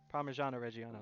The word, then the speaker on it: Parmigiano-Reggiano: this cheese delicious pecorino romano or yeah no parmigiano-reggiano there we go i said it right that